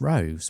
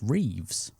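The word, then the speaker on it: Roëves: Um, having watched the the DVD, I've always called him Morris Rose, but it turns out it's actually pronounced Reeves.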